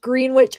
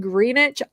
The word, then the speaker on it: Greenwich: it's on the greenish green witch i swear it's spelled green witch if you look it up green witch but i guess people said it's supposed to be said greenwich i didn't know because